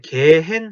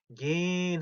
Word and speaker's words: gehen: 이것도 읽을 때 gehen 하고 있는 게 아니라 gen 하고 있죠.